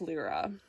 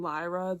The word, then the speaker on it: Lyra: So that's Lra. Also I have pronounced her name Lyra the entire time up until today. But they make a big point in the books that it's LRA, not Lyra. And so I'm going to